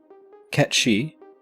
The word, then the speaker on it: Cait Sith: Cait Sith, and yes, I am pronouncing it correctly as it is a Gaelic term meaning fairy cat, is introduced to the party during their exploration of the Gold Saucer.